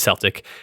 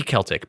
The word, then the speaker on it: Celtic: Celtic it should be Celtic but it's Celtic the word Celtic is pronounced with a hard C unless you're talking about a sports team there's two sports teams